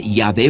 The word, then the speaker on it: Yahvé: Respecto al nombre de Dios, el Antiguo Testamento dice Yahvé o Jehová, manera distinta de pronunciar.